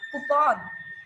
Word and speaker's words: coupon: So the correct one is coupon. Okay, that's coupon, not coupon.